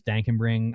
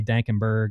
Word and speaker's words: Dankenbring: My last name's Dankenbring. I come on to Overzet's streams. He's calling me Dankenberg. I have to correct him.